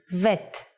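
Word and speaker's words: ב: version is like this if you leave out the dot bet becomes vet the sound of vet is V but we don't count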